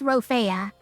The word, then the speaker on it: Rophaea: How do you pronounce my name properly? I I haven't I haven't listed in my about, but it's uh it's Roofa. or is short.